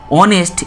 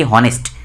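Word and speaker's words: honest: ज़रूरी इसलिए है क्योंकि हम जब इस वर्ड की प्रोनाउंस करते हैं तब हम ऑनेस्ट, इसके आगे जो एच है, एच को हम साइलेंट कर देते हैं, हम नहीं बोलते हैं कि हॉनेस्ट।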